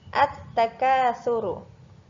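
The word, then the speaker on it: التكاثر: Lagi, at-takasuru. Lamnya tidak terbaca karena langsung masuk ke huruf samsiahnya, yaitu huruf ta.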